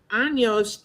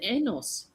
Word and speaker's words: años: years, and so we were taking our lesson last Wednesday at the library, and años with the N has a little tilde, or however you Mhm.